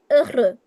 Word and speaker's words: heureux: We know that the alphabet ash has no pronunciation, it's silent. So we start with E. We know that EU as a sound, as phonetic combination sound is E. So technically it's E, R.